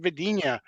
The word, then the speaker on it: Vadina: You say it quick, though.